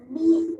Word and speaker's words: beat: And we know the E and A together says E because the A is silent and the A does the E does the talking and the E call its own name. So we hear E.